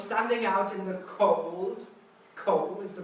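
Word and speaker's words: 口: It is pronounced ko.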